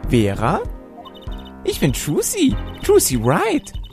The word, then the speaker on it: Wright: Ich bin Trucy, Trucy Wright. Wright schreibt man mit W, spricht es aber nicht, okay?